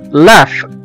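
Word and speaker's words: laugh: زي مثلا كلمة لاف لاف او يضحك لاف ال اي يو جي اتش. الجي هنا جه بعد منها حرف الاتش وخلاها اتنطقت على انها حرف الاف او حرف الفه لاف لاف او يضحك.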